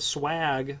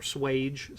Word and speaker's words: swage: there the s distance the swag line or swage some people pronounce it that will change